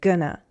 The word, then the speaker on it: gonna: Be going to sounds like gonna, as in, I'm gonna go.